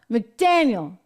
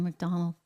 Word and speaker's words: McDaniel: R McDaniel I said it right I always go for R McDonald for some reason Ron McDaniel is out